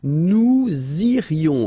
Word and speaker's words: nous irions: Okay, then, nous irions. Okay, so let's make this little liaison between the two. Nous irions, final S not pronounced.